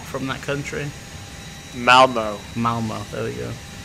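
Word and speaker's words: Malmö: And how would I pronounce that if I'm not from that country? Malmo.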